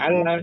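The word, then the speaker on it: أن لا: Insyaallah Ustaz Ya Alla tu ada nun sukun tapi di diidamkan bacanya ala Jangan an lah ya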